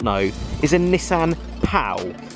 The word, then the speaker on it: Pao: See, this, if you did not know, is a Nissan POW. It's sort of pronounced PAW, I think, but it's actually PAO, a very Japanese thing.